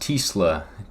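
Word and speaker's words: TeSlaa: Isaac, I believe it's pronounced Tisla.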